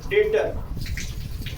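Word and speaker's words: debtor: Next है हमारा यदि किसी स्पेलिंग में टी के पहले बी आए तब भी बी का उच्चारण हम नहीं करते हैं। जैसे डेट, डाउट, डेटर।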